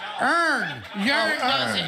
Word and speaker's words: urn: is with a you it's so earn you sang yearn for no reason yearn as a why uh you know like if you meant to say yarn you were saying it correctly this is an urn but no one ever calls it a yearn not in the history not even not in recorded history okay you live and